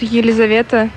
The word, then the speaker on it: Елизавета: In Russian, we pronounce Елизавета. It's full version of name, and Lisa in short form.